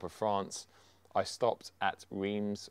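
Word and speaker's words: Reims: France I stopped at re or Raz as the French pronounce it which is uh the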